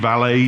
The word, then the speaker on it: valet: That's the correct pronunciation, valet in French.